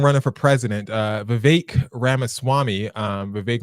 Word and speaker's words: Vivek: Speaking of running for president, Vivek Ramaswamy, Vivek rhymes with cake, got a wake-up call when he invited the most racist woman in America, Ann Coulter, onto his podcast.